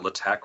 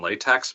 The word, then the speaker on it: LaTeX: in on this although I would pronounce it Le Tech rather than latex but oh Fair yeah it's okay I've heard it both ways yeah I blame the